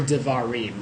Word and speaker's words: devarim: darar or words or devarim is actually how you pronounce it if you're trying to say it correctly and responds I uh